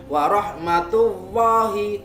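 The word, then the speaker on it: الله: Tullahi tidak boleh jika kita melafalkan warahmatullahi tipis, tidak boleh, harus tebal.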